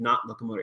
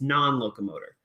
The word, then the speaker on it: non-locomotor: yeah but it's not you said not locomotor it's non-locomotor not locomotor no non-locomotor not locomotor